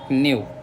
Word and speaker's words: knave: फिर आता है न्यू, के साइलेंट है तो न्यू बोलेंगे इसको। न्यू मतलब हो जाएगा धोखेबाज।